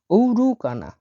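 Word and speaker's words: оорукана: ভেঙে দিচ্ছি আমি দেখুন ও আর ও দুইটা ও মিলে ও উচ্চারণ হবে আর ইউ কে এন এ ঔরুকানা ঔরুকানা মানে হসপিটাল এখানে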